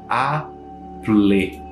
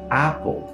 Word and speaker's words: Apple: Na verdade é Apple. Paul termina com esse som de U ou um L, depende muito do teu sotaque. Mas esse "é" do final ali, ele não existe.